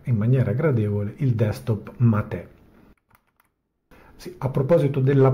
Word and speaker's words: Mate: nella homepage del progetto matè Da dove deriva il nome Il nome Mate pronunciato matate deriva da ierba Mate